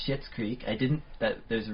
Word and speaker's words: Schitt's Creek: word because it is it is spelled differently it's spelled s CI TT oh yes the new show on CBC new show it is called shits Creek I didn't that there's